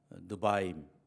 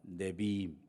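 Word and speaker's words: נביאים: 또 하나는 예언서, 우리는 뭐 그 안에 역사서 뭐 이런 것 분류를 합니다만은 예언서, 느바임, 혹은 뭐 네비임, 발음은 좀 차이가 있을 수 있는데 이런 거 하고, 그리고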